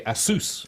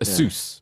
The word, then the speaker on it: Asus: But I think, as you say, I think they actually would say Asus. I think it's like a hard S. Yes, Asus.